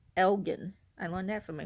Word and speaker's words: Elgin: And people just call it Elgin, but it's actually pronounced Elgin.